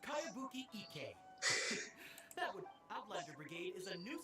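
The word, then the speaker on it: Kayabuki Ikkei: When the By Kawabunga Iggy. Who's this Cowabunga? It's pronounced Kayabuki Ike.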